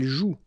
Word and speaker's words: joue: And it's exactly the same rule, so you've got this after, but then clearly you don't pronounce it. Okay, elle joue.